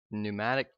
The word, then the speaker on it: pneumatic: is some things called pneumatic tubes and that's spelled with a p there you go p n euu m a t i c and the